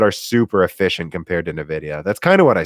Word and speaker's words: Nvidia: a lot of questions popping up here it's pronounced Nvidia I know but I still say in the